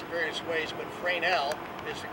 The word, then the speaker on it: Fresnel: word f-r-e-s-n-e-l people pronounced in various ways but freinell is the correct prince pronunciation was developed in 1820 by a fellow